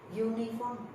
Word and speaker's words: uniform: Uniform. The pronunciation is Y. Y is a consonant, you know, the sound Y.